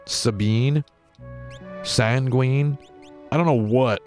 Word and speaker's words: Sabin: for his own freedom zhabin pronounced like log cabin sabine sanguine i don't know